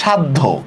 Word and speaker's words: সাধ্য: Same দেখেন সাধ্য, খেয়াল করেন সাধ্য, দেখি সাধ্য শব্দের উচ্চারণটা লেখেন তো আপনারা, পারেন কিনা দেখি, পারেন কিনা?